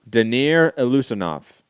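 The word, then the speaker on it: Daniyar Yeleussinov: Danir Lusanov. Danny, are you Lusanov? Oh, now that you pronounce it, okay.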